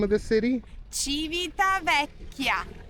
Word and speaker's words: Civitavecchia: You pronounce the name of the city? Civitavecchia. Civitavecchia.